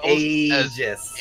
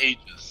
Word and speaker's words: Aegis: Pronounced as Aegis. Aegis.